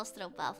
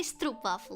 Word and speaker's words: stroopwafel: You guys know stroopwafel, I'm sure of it. Don't say stroopwafel, that's wrong. Stroop. Oh. Wafel, not waffle. Wafel. Big A. Ah. Like opening your mouth for both vowels.